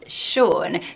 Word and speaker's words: Sean: spell additionally like this and the name is Shaun so are you a Shaun and if you